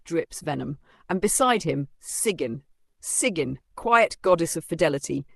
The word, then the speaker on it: Sigyn: Sigyn, pronounced Sigyn, is not dramatic or loud.